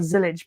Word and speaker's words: Zilisch: was literally saying before about zillich being the pronunciation of the name but you've Dred my